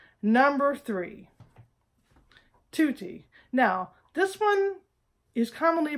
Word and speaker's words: tutti: grated my nerves because the word is tutti not to tea all right Texas you